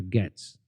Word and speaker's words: Gaetz: job to Matt Gates is that how you say his name Gates or gats gats Matt gats I'll go gats okay all right over